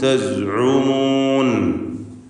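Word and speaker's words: تزعمون: കുൻതും തസ്ഉമൂൻ, ഐന് ശ്രദ്ധിച്ച് ഉച്ചരിക്കുക. സായും പ്രകാരം തന്നെ തസ്ഉമൂൻ.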